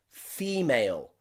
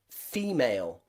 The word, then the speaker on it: female: a stressed syllable so take a look at the word female female okay female the stressed syllable is the first part of that word fee and you can see the letter e there that's the stressed part e so often in many words in english when the e is the stressed part we pronounce it e take a look at